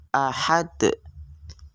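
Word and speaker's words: أحد: Maka huruf qalqalah ini adalah cara membacanya dengan qalqalah kubra ahad.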